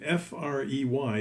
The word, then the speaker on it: Frey: The name F-R-E-Y is pronounced Frey in English or Fry in German.